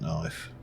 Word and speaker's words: knife: this with a flint knife uh knife now Kenneth there we go we can get two Flynn Connecticut for each piece of flint so and I yes I know the the K is silent I pronounce it to